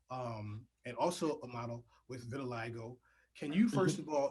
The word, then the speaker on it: vitiligo: Well, vitiligo, I'm glad you asked that question because a lot of people, and you pronounced it correctly, so thank you.